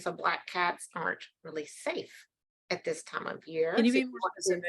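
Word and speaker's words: Samhain: the Celtic world is the holiday sa and it's s m ha a i n and Celtic's an interesting langu language they have all these letters that you don't pronounce or you pronounce it a different way than you'd think you would and that's that's that's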